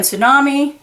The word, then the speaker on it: tsunami: But there's the silent T on tsunami, and there you go.